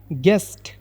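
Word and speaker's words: guest: ಅಂದ್ರೆ ಅರ್ಧ ಅಂತ ಹೇಳಿ ಗೆಸ್ಟ್ ಅಂದ್ರೆ ಅತಿಥಿ ಗೆಸ್ಟ್ ಅಂದ್ರೆ ಅತಿಥಿ ಅಂತ ಅರ್ಥ ಇದರಲ್ಲಿ ಯು ಸೈಲೆಂಟ್ ಆಗುತ್ತೆ ಗೆಸ್ಟ್ ಅಂತನೆ ನಾವು ಪ್ರೊನೌನ್ಸ್ ಮಾಡಬೇಕು ಗೆಸ್ಟ್ ಬದಲು ಇದರ ಕನ್ನಡದಲ್ಲಿ ಇದನ್ನ ನಾವು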